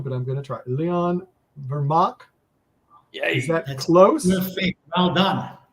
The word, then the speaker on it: Vermaak: say this wrong but I'm gonna try Leon vermac is that close well done oh whoa I